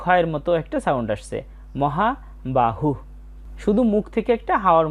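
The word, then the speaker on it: মহাবাহুঃ: মহাবাহু। শুধু মুখ থেকে একটা হাওয়ার মত বের হয়েছে। এরপরে আছে সংখ্যান। বাংলা উচ্চারণের মত।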